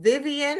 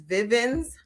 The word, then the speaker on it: Vivven: was in school um they would be like oh Vivian and I would go no my mother's name is Vivven's Nven I know it rhymes I know unconventional, but her name is Vivven.